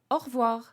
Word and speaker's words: au revoir: Yeah, but the reality of it, we tend to say au revoir. So more of an open A at the beginning. Au revoir. Au revoir. You still pronounce that little R in the middle.